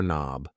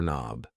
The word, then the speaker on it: knob: This thing here is a door knob. A door knob. Yes. The K and knob is silent.